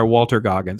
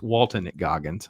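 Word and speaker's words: Walton Goggins: and that's played by Walter gogins and I love Walter gogin he Walter sorry it's Walton gogin I said his name wrong who um just did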